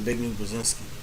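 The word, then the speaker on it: Zbigniew Brzezinski: he a big new brazinski yeah it's a big new brazinski okay so we got we got a couple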